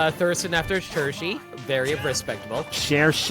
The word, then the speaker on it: Cherche: Cherche is how you pronounce it, Limit. I pronounce it Churchy. I actively was trying to avoid it the way I normally say it. Well, it's canonically Cherche. I know it's supposed to be Cherche.